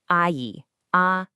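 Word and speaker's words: 阿姨: And for a woman, you'd say I a.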